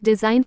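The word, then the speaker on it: design: ए fridge यानी fridge N से पहले आया जी प्राय साइलेंट होता है जैसे डीएसआई जीएन डिजाइन यानी रचना आर ए एस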